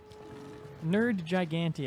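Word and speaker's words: Nergigante: Nerd Gigante, I believe, is the pronunciation.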